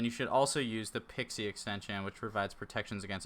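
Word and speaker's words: PKCE: from Olaf comm okay pixie is proof key for code exchange pronounced pixie see I knew it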